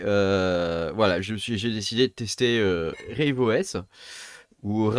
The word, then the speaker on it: RaveOS: sortes choses et voilà j'ai décidé de tester rideau s ouvre à vos images il faut le prononcé à l'anglais voilà j'ai décidé de le